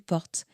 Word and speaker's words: porte: Une porte se prononce une porte sans vraiment entendre le e final.